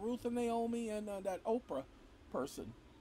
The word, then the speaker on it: Oprah: call her oprah but her name is not oprah it's oprah and so hey don't worry about it go ahead and figure out how to pronounce it but it ain't oprah it ain't okra either and so when they